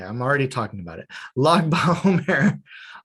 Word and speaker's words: Lag BaOmer: Lag BaOmer. Lag is a pronunciation of the number 33. So it's the 33rd day of the Omer.